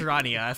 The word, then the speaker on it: Rania: Yeah, that is what I call apparently it's pronounced Rania from what I heard.